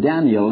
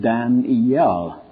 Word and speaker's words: Daniel: The Hebrew word Daniel has three syllables, Dan-iel. The English word, two, Daniel. But the American in those days, only one. Have you ever heard of Daniel Boone? You ever heard of Daniel Webster? That's how they spelled it, D-A-N apostrophe L, and they pronounced it as one syllable.